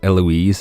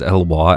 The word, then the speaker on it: Eloise: Look, I pronounced Eloise as Elwa at the beginning of this playthrough. There is no chance I'm going to pronounce that name correctly.